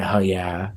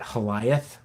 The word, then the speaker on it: HLLLYH: But, um, I guess if I'm being honest, I say hell yeah most of the time, too. Yeah. Um, my daughter pronounces it Holiath with a th and she insists that that's the proper pronunciation.